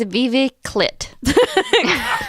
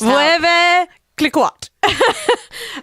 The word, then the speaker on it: Veuve Clicquot: I think it's Vive Clit. Cliquot. French speakers. Vueve Cliquot. I think I'm trying to pronounce it enunciate every syllable in it. It's probably not right at all. But it probably is Veve Clit. Cliquot. I'm pretty sure I'm right.